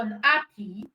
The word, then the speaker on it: unhappy: So for unhappy, just know that ha is the stress syllable in unhappy.